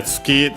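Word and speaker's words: 月: So yeah, Tsuki, the one already mentioned for moon. Accent on the last mora.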